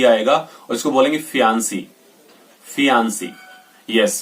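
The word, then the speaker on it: fiancé: Last में single ई आता है और इसको बोलेंगे फियांसे।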